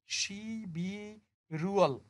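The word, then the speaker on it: 십일월: তাহলে এই শব্দটার উচ্চারণ হবে শিবি রুয়াল, শিবি রুয়াল, নভেম্বর মাস।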